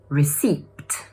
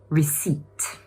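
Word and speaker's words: receipt: This is another word that contains a silent letter - which one is it? Yup, it’s the ‘p’ sound. So instead of saying /rɪsiːpt/, it should be pronounced /rɪˈsiːt/.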